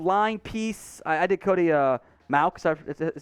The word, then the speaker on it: Mauch: I did Cody Mauch, is how it's pronounced, last time.